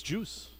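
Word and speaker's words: Guice: I'm thinking Darius Juice at this point. Geis. Juicy. Geis, you mean? Is it Geis? I think it's pronounced Geis. Yeah. It's very French Canadian, by the way.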